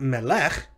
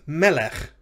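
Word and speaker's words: מֶלֶךְ: Notice it's not melech. It's melech, and in both syllables feature segals.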